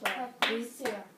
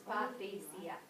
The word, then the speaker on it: Patricia: No, in Spanish it's Patricia. Right. In English, it's Patricia.